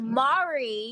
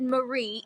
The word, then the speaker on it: Mari: Also, you said my name wrong. What is it? Mari. You said Marie. It's Mari.